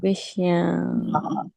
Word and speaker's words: viṣayān: Not viṣayān, viṣayān. Viṣayān. Don't eat the vowels for breakfast. Okay. Pronounce them. Take them out of your mouth. Don't steal the vowels. Dhyaya, that's Sanskrit. Dhyayato viṣayān. Dhyāyato viṣayān. Not na, viṣayān. Viṣayān. You see, it is a half N. Yeah. It won't be na.